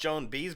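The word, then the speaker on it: Joan Baez: actually and it was uh Joan I it's pronounced Joan bees but she said pronounce oh yeah Joan bz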